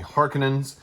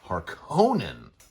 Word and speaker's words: Harkonnen: the fremen the harkenins and i say hearkenins as opposed to harkonnen because it's one of those science fiction things that you can pronounce however you want uh but apparently in the audiobook and in this new movie they pronounced it harkenin versus the 1980's film where it was harkonnen so there we go um